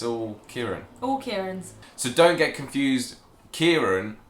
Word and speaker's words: Ciaran: next Irish name that we've come across is Kieran, but spelled like this. Kieran. Kieran. C-I-R-A-N. Kieran can be spelled like this, or even... like this. All very different spellings, but it's all Kieran. All Kierans.